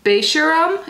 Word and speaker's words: Beisharam: And this is in Beisharam. It actually tells you how to pronounce it on here, so that is how I know.